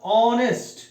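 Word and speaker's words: honest: হওয়ার কথা ছিল কিন্তু যেহেতু এখানে এইচ টা সাইলেন্ট অর্থাৎ অনেস্ট এই উচ্চারণটি হচ্ছে সেই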